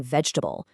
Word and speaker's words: vegetable: Look at vegetable. It completely drops an entire middle syllable becoming vegetable.